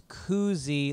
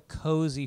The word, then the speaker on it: koozie: out that it uh a koozie is pronounced with two o's it's koozy like a bird cing not like a cozy fire I guess you said